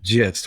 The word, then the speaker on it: gist: Gist with a J.